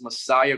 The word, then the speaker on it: Messiah: My Instagram is Messiah. Messiah and like Instagram. Se pronuncia Messia, pero se escribe Messiah.